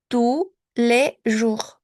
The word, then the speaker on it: tous les jours: Ah, aquí no pronuncio mi S. Tous les jours.